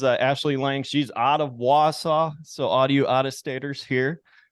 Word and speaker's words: Wausau: She's out of Wausau. So all you out-of-staters here, we're going to pronounce it correctly. Wausau, not Woosau.